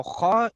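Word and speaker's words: خاء: Now kha is a halaqiya letter। Kha is also a halaqiya letter but pronounced from the top part pharynx of the throat।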